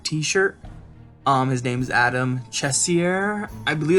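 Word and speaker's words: Cesare: called Project black t-shirt um his name's Adam chessy err I believe it's how you say his name um I see people say a Caesar a lot and that would make sense because that's how his name is spelled but I was corrected on Facebook and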